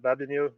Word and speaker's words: Babeanu: I'm gonna make sure I pronounce this right. Is it Babeanu? Sure, yeah, Babeanu.